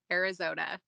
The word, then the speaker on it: ArizOTA: Is it Arizona OTA, ArizOTA? How do we want to pronounce that? You've got it. It's the Arizona Occupational Therapy Association, ArizOTA. ArizOTA. I love it. Okay, I thought that was the case, but I'm glad I got it right.